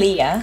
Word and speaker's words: Liya: I know we have Natasha maybe you could pronounce your name right and then there's Elia is that how you say it Leah Leah Leah you're totally free to improvise on